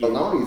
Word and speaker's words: bologna: Bologna, you don't even say bologna how it's spelled. No, you don't. Bologna got a G and an N and an A at the end. Yeah. Bologna. Real G's move in silence.